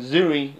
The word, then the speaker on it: Zuri: zuri that's his name there's shuri you know that's pronounced and s-h-u-r-i and zoory that forest whitaker character it was pronounced zed u r i you know he he